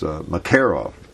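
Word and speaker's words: Makarov: uh a Russian military marov and uh now I understand the actual correct speaking of pronunciation of spelling the actual correct pronunciation I believe I read was mcov the accents on the second syllable can you believe that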